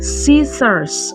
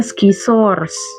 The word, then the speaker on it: scissors: Jawabannya scissors. Gunting. Coba ikutin cara bacanya. Scissors. Scissors. Nah, jangan bacanya skissors. Scissors.